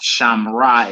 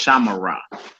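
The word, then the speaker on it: שָׁמְרָה: You're supposed to pronounce that Shiva, so it's not Shamra, it's Shamara. It's not Shamru, it's Shamaru.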